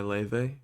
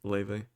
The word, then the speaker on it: Laufey: Um, not the cheeriest, I'll tell you that, not the happiest, but "Falling Behind" by Leve, or I mean it's spelled Laufey, but it's pronounced Leve, and then "Preaching to the Choir" by Doan, Doan.